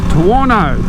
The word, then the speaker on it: Tuono: i'm on the aprilia tuwano rhymes with porno yes the beast done